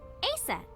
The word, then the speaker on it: Aset: but in ancient Egyptian, it's pronounced closer to Ise or Aset.